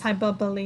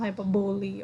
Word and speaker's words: hyperbole: We have to pronounce hyperbole, not hyperbole, okay?